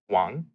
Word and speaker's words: Wang: spelled w ang and in Chinese it's actually pronounced Wong like almost like it was spelled W Ong so which is just